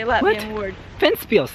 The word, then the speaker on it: Ventspils: Ventspils, that's how you say it.